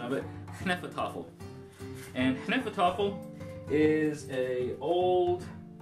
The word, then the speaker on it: Hnefatafl: It is actually a travel game of Hnefatafl. And I believe that's the correct pronunciation of it. Hnefatafl.